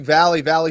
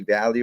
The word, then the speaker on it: Valle: Well, I was curious, whether are we pronouncing it incorrectly? And everyone calls you Valley Striking. Should it be Valle or is it Valley?